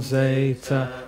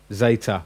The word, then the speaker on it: zeta: Zeta, which is pronounced as a Z or as a DZ at times, like words like baptizo.